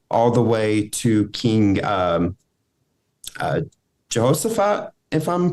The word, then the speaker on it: Jehoshaphat: So this takes place between the reign of King Saul all the way to King Jehoshaphat, if I'm pronouncing that correctly. Mm-hmm, Jehoshaphat.